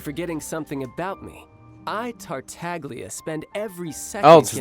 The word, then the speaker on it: Tartaglia: again y you're forgetting something about me I tartaglia spend every second oh so that's how you pronounce it tartaglia expect to have it quite so easy next